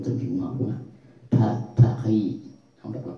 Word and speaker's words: Paris: Huế đó tới Paris đọc tiếng Pháp là Paris, tiếng Pháp nó hơi cái chữ R nó đọc trong cổ họng, tại vì mình có